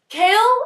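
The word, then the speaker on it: Chaol: So let's just start with saying Kale is the worst name and the best name in the entire world.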